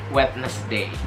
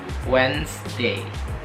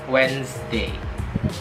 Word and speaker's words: Wednesday: Biasanya kita dengar mereka nyebutnya Wednesday, Wednesday, Wednesday. Jadi kayak 3 suku kata gitu kan, 3 pembagian. Padahal sebenarnya ini hanya 2 syllable. Jadi the way you pronounce itu adalah Wednesday, Wednesday, Wednesday, Wednesday.